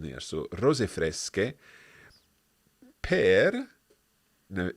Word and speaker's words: fresche: We can't say Fresce because that would be fresche. So we need to make it fresche with an H in there. So rose fresche per.